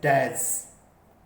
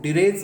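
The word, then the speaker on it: dirge: अब देखिएगा next, elegy versus डैज। एक वर्ड होता है एलेजी, आप जानते हैं DIRG, इसको डिरेज मत बोलना, डैज है ये, डैज ये ए होता है इसमें, डैज सही प्रोनाउंसिएशन इसका।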